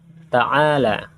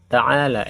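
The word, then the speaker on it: تعال: Ta'ala, ta'ala ya akhi, membacanya ta'al biasanya. Umumnya ta'al, kemari. Ta'al, ta'al. Ta'al ya akhi, kemari saudaraku. Ta'al, bukan ta'ala. Memang tulisannya ta'ala, tetapi dalam percakapannya biasanya ta'al dimatikan.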